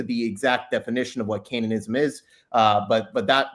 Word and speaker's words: Canaanism: I think it's the latinized pronunciation.